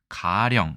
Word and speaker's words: 가령: 어떻게 읽고 어떻게 해석할까요 자이 글자는 가령이라고 읽습니다 하지만이 거짓 가짜가 장음으로 분류되어 있기 때문에 사전에는 가령 이렇게 해서 가가 장음으로 되어 있습니다 어쨌든 가령 일단 한자